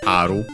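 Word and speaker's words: ある: In our case we have uh unacented but that one like aru it's aru verb.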